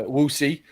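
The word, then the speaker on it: Wuxi: although i live in uh wussy rhymes with poo she is in for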